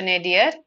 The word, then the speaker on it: nadir: for that is this is how it is pronounced okay so nadir is the lowest point of something okay hope